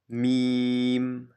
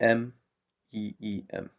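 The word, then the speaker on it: ميم: Meem, Meem, Meem. So it sounds like the M, E-E-M, Meem, Meem, Meem.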